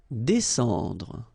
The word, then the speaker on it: descendre: Descendre. Well, even if you've got this combination of S and C here, you just pronounce it S.